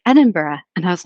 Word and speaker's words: Edinburgh: enough to knew that it wasn't edenburg but I couldn't remember how to say it and so I waited till I got home where um my flatmate um and one of my best friends is is British and so I was like Liz what how do you say this again and she's like Edinburgh and I was like